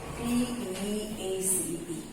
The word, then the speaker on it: peace: Okay, now both these words are pronounced as peace. दोनों को हम बोलते हैं peace. ठीक है, PIECE भी peace है और PEACE भी peace है. दोनों ही वर्ड को हम प्रोनाउंस करते हैं peace.